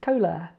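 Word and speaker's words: 콜라: Oh yeah, I should say sometimes this R sounds like a L at the end of, well, at the start or end of a syllable. R, L is quite a similar sound really. It's just represented by the same letter in Korean. So that's kol, and la is cola.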